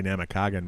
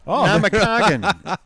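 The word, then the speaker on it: Namakagon: I have the I have the accent on the wrong syllable right now. Namagon. There you go. I think that was something like that. Namagamagan. Namagan. I always want to say Namakagen, but I know. That's it. Namakagan.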